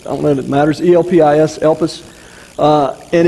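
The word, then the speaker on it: ἐλπίς: He uses the Greek word that's used is spelled, and I don't know if it matters, E-L-P-I-S, Elpis.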